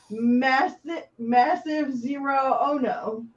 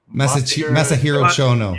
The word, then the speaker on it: Masahiro Chono: Massive Zero Ono. Masahiro Chono.